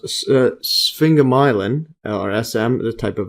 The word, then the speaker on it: sphingomyelin: Yeah, this one I believe is pronounced sphingomyelin, or SM, the type of lipid.